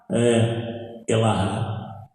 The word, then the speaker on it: Elahá: Elahá, pronúncia correta.